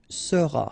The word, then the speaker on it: seras: Alright, then tu seras, final S not pronounced, tu seras, il sera,